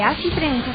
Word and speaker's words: ACI Prensa: Recuerda que Así Prensa se escribe A-C-I Prensa.